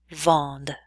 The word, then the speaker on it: vendent: Nous vendons, vous vendez, il et elle vendent. That ENT ending is silent.